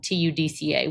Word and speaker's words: TUDCA: when you're discussing this with women is around TUDCA.